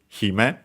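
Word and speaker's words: 姫: We have seen that on its own is accented on the Hi, Hime, it means princess.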